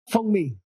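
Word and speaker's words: 蜂蜜: Fengmi.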